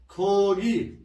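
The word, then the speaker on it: 고기: जानु हुन्छ है त्यसैगरी गो प्लस गी नभएर खोगी खोगी हुन्छ है। खोगी भनेको मासु है। अनि खा प्लस गे गागे नभएर खागे खागे भनेको पसल है।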